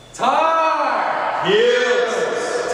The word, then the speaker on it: Tar Heels: Remember, when you say heels normally, it's one syllable, but when you're cheering it, it's two.